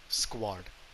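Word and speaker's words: Squard: sons a squad for for people who don't know how to pronounce it s-q-u-a-r-d squad so just put an r in between squad and there you go but he was convinced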